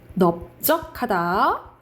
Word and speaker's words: 넓적하다: 원칙은 리을인데 비읍으로 발음 나는 경우가 있는데 그게 4가지가 있다 했죠. 답다, 넓적하다, 그리고 넙죽하다, 넙둥글다. 이렇게 4가지만 비읍으로 발음난다라고 외우시면 돼요.